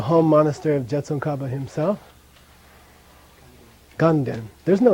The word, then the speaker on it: Ganden: And together it's ga-den, so people say ganden. And you get many letters from Tibetans in South India that spells it, you know, with a na, gan-den.